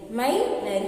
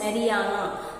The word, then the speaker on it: Marianne: And in France you can find that Marianne. He is a name of an allegory where it was named under the Christian name. Okay, so it can be even pronounced as Mariana.